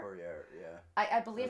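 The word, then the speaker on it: Fouéré: Olwen, I'm going to butcher her last name. I believe it's pronounced Fourier. Fourier, yeah.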